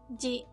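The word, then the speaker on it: ぢ: And with tenten, it makes the sound ji, ji. Do you remember the other ji? Shi with tenten. They have the exact same pronunciation.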